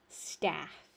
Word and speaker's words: staff: Staff. Staff. So that second one is a lot more open.